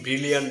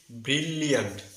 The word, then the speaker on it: brilliant: হবে, এখানে আমি দেখিয়েছি, ব্রিলিয়ান্ট। ব্রিলিয়ান্ট, নট ব্রিলিয়ান্ট। এখানে দুইটি এল রয়েছে। প্রথম সিলেবলে একটি এল এবং দ্বিতীয় সিলেবলের শুরুতে একটি এল। দুটো সিলেবলের এর উচ্চারণের সাউন্ডে কিন্তু এল সাউন্ডটি কিন্তু থাকবে।